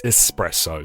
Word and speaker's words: espresso: will cuz it's like no mate it's espresso there's an S there there is no X can we please talk